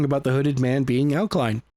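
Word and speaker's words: Alclien: Alkaline. Alen. That's how you say his name. A L C L I E N. Alkine. I can't help if past him didn't know how to spell, but he's pronounced alkaline. Okay. Get it right, please.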